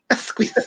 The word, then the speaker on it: Asquith: Just real quick, just a little trick to remember how to pronounce that the word, like that dude's name Asquith, is just think you're squashing a gay frog. Asquith.